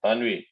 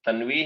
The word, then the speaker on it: तन्वी: बोलो तानवी। सर बेटा 2p बाई, आपका बेटा प्रोनाउंसिएशन तन्वी है या तानवी? सर तन्वी। तन्वी, राइट।